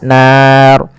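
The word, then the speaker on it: النَّار: Kemudian pada lafal annar di sini ada ghunah. Pada lafal nun cara membacanya yaitu ditahan suara nunnya. Ashabun bunu lepas nar dan ro di sini kita hukumi dengan ro tafkhim ro yang tebal tidak boleh dibaca dengan ro tipis kenapa karena dia adanya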